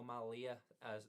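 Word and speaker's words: Mallia: thank you and uh my name is Mariano Malia last name is spelled m a l l i a uh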